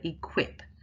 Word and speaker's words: equip: bigger mouth movement, so equip. So the quip is the stronger stressed syllable there. Cancel.